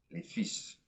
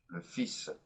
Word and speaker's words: fils: The sons, les fils. By the way, this is kind of an odd noun as well in the French language. The L is silent, okay? We don't hear the L. Le fils.